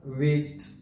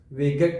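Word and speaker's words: weight: غږ له منځه ورکوي موږ دا لغت ویټ تلفظوو ویګټ نه تلفظوو او په وروستی لغت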